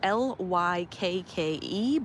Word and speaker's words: Lykke: It's spelled Lykke, but I hear that it's pronounced Lykke.